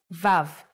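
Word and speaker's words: ו: the sixth letter is VAV the sound of VAV is V or o or and it's written like this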